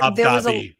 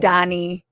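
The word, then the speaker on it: Mamdani: Well, uh there Mandi or whatever, however he mispronounced it. Mandani.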